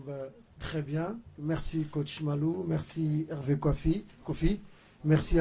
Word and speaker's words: Malo: Merci, coach Malou. Merci, Hervé Kofi. Merci à vous. Malo. C'est M-A-L-O. Non, j'avais bien prononcé Malo.